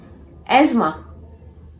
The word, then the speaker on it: asthma: The correct pronunciation of this word is asthma. Asthma. Asthma is wrong. You have to pronounce this word as asthma.